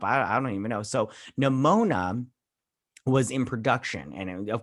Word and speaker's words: Nimona: movie they were working on was called uh nimona is that how you say it that's how